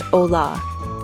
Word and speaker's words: hola: The letter H is always silent in Spanish. So, the word ha, which means hello, is pronounced hola.